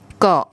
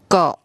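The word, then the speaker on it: เกาะ: And it makes a very short O sound.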